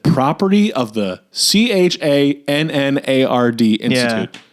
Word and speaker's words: Channard: Again, if you found a piece of paper that said property of the CHANNARD Institute, you'd go Channard. And they're like, Chenard Institute. Yeah. No one would pronounce it Chenard.